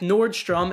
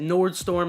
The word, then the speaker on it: Nordstrom: wanted to mention if Nordstrom and yeah I know it's Nordstrom I said Nord storm in the previous video I know it's great